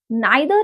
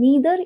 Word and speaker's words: neither: Neither is the British pronunciation which we have been pronouncing, and then neither is American pronunciation.